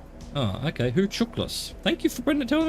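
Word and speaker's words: Hucuktlis: gain a visual on who Cactus Lake pronounced who chuckless ah okay who tooklas thank you for bringing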